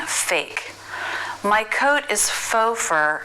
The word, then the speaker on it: faux: sauces Pho Bordeaux Roux the letter x is silent but the most common